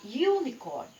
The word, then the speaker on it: unicorn: Mas, se a gente for lá para a língua inglesa, esse U aqui, nós vamos pronunciar unicorn, unicorn. Então, esse U, para a língua inglesa, é como se fosse um som consonantal, vamos dizer assim.